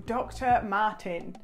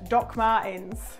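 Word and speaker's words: Dr. Martens: So these are the two options that I picked from Dr. Martin. Dr. Martin, why did I say it like that? Like I've never heard, Doc Martens.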